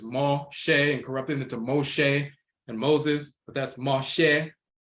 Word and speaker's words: Moshe: msh and so forth but it's Moshe that's how they pronounce it that comes from ma